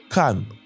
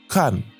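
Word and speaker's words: 看: Le mot regardé en chinois se dit can. Cann. Il se prononce au 4e ton. Le ton est descendant et ferme.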